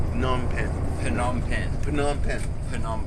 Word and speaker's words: Phnom Penh: Oh, it's like not PH, like That's Phnom Penh. Phnom Penh. Oh. It's just silent. Oh, H is silent. It's opposite from French. I mean, Phnom Penh. Oh, that's how it is. I have to uneducate myself to not pronounce PH.